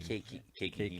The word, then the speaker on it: caking: So it's anti-caulking, Caking. caulking. He was But that pronunciation.